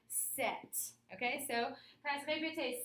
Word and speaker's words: sept: The P is silent. We do not pronounce that P. So it is not sept, it's rather set.